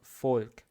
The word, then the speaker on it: Volk: Но для другого произношения есть слово folk. Folk – это народ. Folk. V-O-L-K.